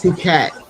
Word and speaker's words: Phuket: It's Phuket.